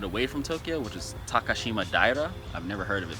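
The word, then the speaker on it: Takashimadaira: a little bit away from Tokyo which is takashima daire I've never heard of it but that's how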